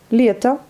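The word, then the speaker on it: лето: Leta, pareil, en haut à la fin, mais on le lit comme un A puisqu'il n'est pas accentué.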